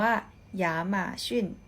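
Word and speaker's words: 亚马逊: กว่า ทิ้ง กว่า อ้ะ Amazon Amazon อ่าน ว่า อย่า มา ชื่น อย่า มา ชื่น ไอเกีย นะ คะ ไอ้ เกียร์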